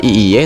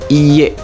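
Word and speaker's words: いいえ: Ini bacanya bukan iye tapi iye. Jadi i-nya panjang gitu ya.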